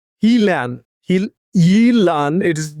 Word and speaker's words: Gnjilan: In his field on the outskirts of a small European town called, again, I'm trying to pronounce this uh European town called Gnjilan.